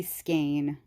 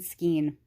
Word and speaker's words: skein: it's supposed to be skein believe me I know it's supposed to be skein but I've been saying skiing for 41 years and there's just no